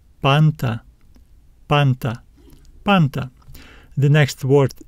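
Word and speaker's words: πάντα: letters give us sounds p a n t a this is our accent we will need to stress this syllable let's read it panta panta panta the next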